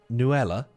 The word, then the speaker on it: Nutella: They don't say the T. They say Nella.